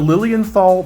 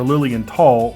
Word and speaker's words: Lilienthal: today we have the lilienthal Berlin at least I think that's how you pronounce it it's either Lilienthal or Lilian tall Berlin model lc1 and